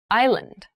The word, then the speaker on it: island: Thailand has many rainforests island island I land and island is a portion of